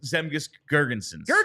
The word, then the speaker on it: Zemgus Girgensons: Zemgus Girgensons. Right? There you go, Girgensons.